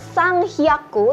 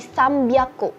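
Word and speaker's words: 三百: 300 itu bukan sang hyaku tetapi sambyaku.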